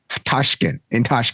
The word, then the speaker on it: Tashkent: Tashkent.